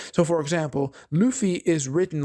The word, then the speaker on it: Luffy: comments say, refer to Luffy as Ruffy, because in some countries, Luffy's name was actually localized to Ruffy, right? Because that's how they pronounce it in Japanese.